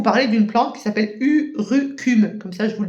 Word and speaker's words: urucum: Alors, je souhaitais vous parler d'une plante qui s'appelle urucum. Comme ça, je vous le dis, comme ça s'écrit U-R-U-C-U-M.